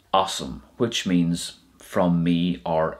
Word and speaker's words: asam: are associated with os, you wouldn't say os me. That's not the way it works. It goes like this: it's awesome. So os plus me is awesome, which means from me